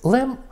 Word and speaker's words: Лем: Самуїл Лем при народженні мав дещо інше прізвище. Воно мало 4 літери – Л, Е, H і М. Читається воно все одно Лем і означає в німецькій мові глина.